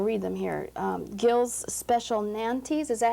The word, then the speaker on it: Nantes: Gill's Special Nantes, is that how you say it?